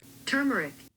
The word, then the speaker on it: turmeric: Is there an R before the M? There is. Wow, you learn something new every day. My brain must have glossed over that letter. Turmeric. Turmeric. Okay. I've been saying it wrong.